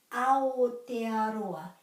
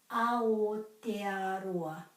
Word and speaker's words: Aotearoa: Ao, ao, ao, not ao, ao, te, a, ro, a. So all the A's are pronounced exactly the same in Māori, so there's quite a few of them in this word.